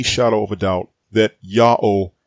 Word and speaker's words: Ya'oh: of a doubt that yao is the only correct way to pronounce the tetragrammaton it's because this pronunciation